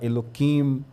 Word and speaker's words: Elohim: Quando fala Elohim, eles não falam, fala Eloquim, né? Então, eh, muda-se a pronúncia justamente para não eh e se entende, né?